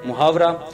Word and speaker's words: محاورہ: محاورہ ملاحظہ کرتے ہیں۔ محاورہ یہ لفظ عربی زبان کا ہے جس کا صحیح تلفظ محاورہ ہے، اور مفاعلہ کے وزن پر ہے، جس کا بنیادی